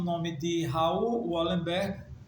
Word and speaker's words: Raoul: Eu vou falar a vocês sobre Raoul, que no caso se escreve R-A-O-U-L, Wallenberg, ou simplesmente Wallenberg.